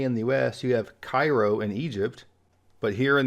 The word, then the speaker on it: Cairo: the US you have Cairo in Egypt but here in the US you have Cairo Georgia and Cairo Illinois and here we have